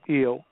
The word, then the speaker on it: El: we have the word l or eill actually the name actually the name is pronounced ill but I uh uh